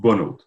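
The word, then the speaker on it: Bonhote: Yeah, it's pronounced Bonot.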